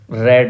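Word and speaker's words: read: एक मजहिया कहानी पड़ी रेड है यह तालाब इसका प्रनंसीएशन रेड सेकंड फॉर्म और थर्ड फॉर्म का प्रनंसीएशन रेड होता है स्पेलिंग से रहती है रीड रेड रेड वन दे एक दिन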